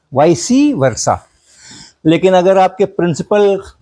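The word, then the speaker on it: vice versa: वी आई सी ई तो वॉइस पढ़ना और वर्षा के पहले लगा हो तो वाइससी पढ़ना वाइससी वर्षा वाइस वर्षा भी बोलते हैं लेकिन वाइससी वर्षा भी बोलते हैं।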